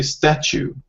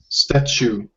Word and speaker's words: statue: So we say statue. Statue. So statue. Statue is like, when you're chewing gum. This is how we pronounce the last part.